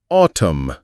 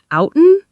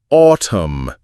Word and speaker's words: autumn: I've heard people say outen a lot, so the N is silent, right? Like column? You're on the right track, my astute student. The N is indeed silent, making it autumn.